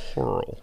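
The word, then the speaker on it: Hoerl: Because it's spelt H-O-E-R-L. You could have gone either way with that. Hurl.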